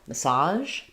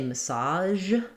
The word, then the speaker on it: massage: Um, so there's two ways that native speakers pronounce this word. Um, and the difference falls at the end. Some say massage and some say massage with a J sound.